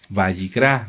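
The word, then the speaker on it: ויקרא: ¿Quién se acuerda cómo se dice Levítico en hebreo? ¿Cuál es el nombre correcto del libro? Bayicrá. Muy bien. Que significa y él llamó.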